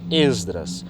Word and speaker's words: Esdras: E aqui, como não tem, nós dizemos Esdras. Não é uma regra, mas é um costume de que quando a primeira vogal não é acentuada, a gente não acentua na pronúncia.